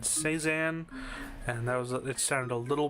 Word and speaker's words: Cézanne: I'm gonna assume that's how it is, because the Google thing said Cézanne, and it sounded a little white.